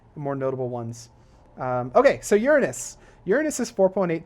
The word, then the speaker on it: Uranus: comments that's why I'm saying Uranus it's not pronounced Uranus even though it's spelled that way it's pronounced Uranus I don't you know whoever would whoever came